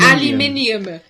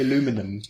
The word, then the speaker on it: aluminium: do you got here's here's another American aluminum how does it alumin no aluminum they we say alum aluminum aluminium yeah and they say aluminum aluminum yeah here's another one Americans